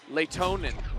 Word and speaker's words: Lehtonen: Make some noise for Lehtonen. Oh, yeah. Not always a big hip-hop guy, JC. Hits different. Allow me to reintroduce myself. Oh, my God. New favorite. Lehtonen.